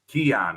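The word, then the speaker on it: Kian: Keon. It rhymes with Leon.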